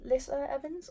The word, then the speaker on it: Lissa Evans: I have is old baggage by Liszt Liza Lissa Evans I think it's how you pronounce it this was actually recommended to me